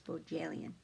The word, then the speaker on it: Bohjalian: So the J is not silent, it's Bohjalian.